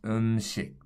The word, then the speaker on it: 음식: I sound in Korean, the S sounds more like a sh than a s. So this would be pronounced 음식.